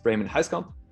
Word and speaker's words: Ramon Huiskamp: going to be relevant my name is raymond heiskomp that's how you pronounce it i'm an indie developer